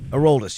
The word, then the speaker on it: Aroldis: So, how do you pronounce his first name? Chapman, the Aroldis. Aroldis, yeah.